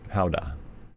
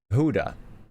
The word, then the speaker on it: howdah: I think it's hoodah. Howdah. Howdah. No, it's howdah.